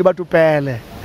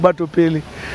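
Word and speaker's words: Batho Pele: They even call it Batupele. And then, you know, we properly pronounce it Batupili.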